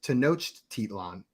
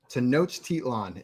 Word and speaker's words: Tenochtitlan: I asked Google how to pronounce it. It's Tenochtitlan. Tenochtitlan is how you say it right there.